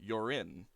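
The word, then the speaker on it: Jörin: um actually it was it was j-o-r-i-n and i meant for it to be pronounced um you're in but because of the umlaut i named it so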